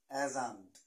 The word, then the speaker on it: adjunct: we learn about age এজাঙ্ক এডজাঙ্ক না এডজেক্টিভ যেমন এডজেক্টিভ না ঐরকম এডজেক্টিভ এজান্ট প্রোনাউন্সড এজান্ট এই এজটা আপনি তুমি